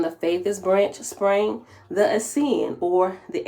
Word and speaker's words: Essene: From the faithist branch sprang the Essene, it's spelled Asenean. And in parentheses, it has Essene, Essenean, or Essene, Es''Eans.